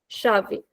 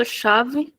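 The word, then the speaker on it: chave: So ch gives a sound of sha. We read the example shavei.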